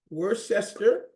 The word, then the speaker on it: Worcester: It is pronounced Worcester, being the town where it was made, shire being the county where the town of Worcester is in England.